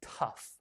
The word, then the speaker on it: tough: Another word we can say is tough. Tough. It sounds like T-U-F-F, but it's spelled O-U-G-H.